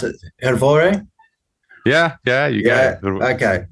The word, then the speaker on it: Hrvoje: I looked up how to pronounce it. Hrvoje?